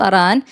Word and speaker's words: Iran: You've already proven that you support Iran. How? And by the way, it's pronounced Aran. I just wanted to make sure that people were, hearing that that's what you said.